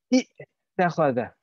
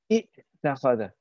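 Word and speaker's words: اتّخذ: It will sound like this. Ittikhadha. Ittikhadha. Can you hear that jerking sound at the beginning? It's not a nice sound, is it? It's not a nice sound to pronounce either. Ittakhadha. Arabic doesn't like to be a jerky language. It likes to be a flowing language.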